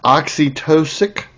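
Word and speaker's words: oxytocic: Oxytosic. I think that's how it's pronounced.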